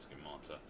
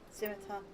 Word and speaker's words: Scimitar: Yeah, I'm gonna go over to the schemata. Scimitar.